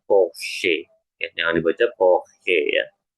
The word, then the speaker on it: Porsche: Ya, karena huruf CH-nya sudah di bagian terakhir ya posisinya sebenarnya. Jadi dia dibacanya sama seperti SCH tadi ya, dibacanya Porsche.